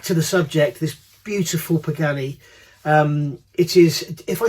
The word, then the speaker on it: Pagani: of this video so if I say pagini please don't pull me up on it I know know I'm saying it wrong but it just comes out so Pagani Utopia what a car